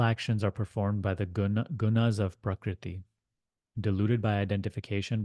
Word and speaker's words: guna: It's actually pronounced gun, and we're going to say gunas.